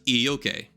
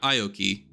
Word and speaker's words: ioke: of the eight ioke it's pronounced e okay not Aoki or ayok it's a really weird